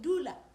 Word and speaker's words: dula: are mostly verbs for example if I say Doula doula l-u-l-a dula means sit and krisa Kisa which means bring t-l-i-s-a notice the pronunciation is still the sound we've talked about